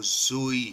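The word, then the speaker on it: ζωή: यूनानी में जो किताब हयात के लिए लफ्ज़ इस्तेमाल हुआ है वो ज़ोई है, ZOE। इसको जिसकी प्रोनाउंसिएशन जो है वो DZO/AY, ZOE, इसको ZOE कहा गया है।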